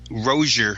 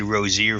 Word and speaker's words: Rosier: of the two right roeser I guess is how Malik pronounces his last name now I've said Rozier for a couple of years now but I guess it's rosier from what I hear you know he left